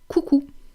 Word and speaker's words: coucou: And it is coucou. Coucou. Let's decompose this because it might not be easy for you. K, ou, cou, coucou.